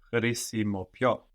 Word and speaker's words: χρησιμοποιώ: Χρησιμοποιώ. So it's like χρήσιμο with πιο on the end, χρησιμοποιώ. And of course we have the accent on the end, no?